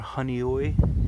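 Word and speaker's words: Honeoye: Believe some of them are Honey Oi, that's how you pronounce it.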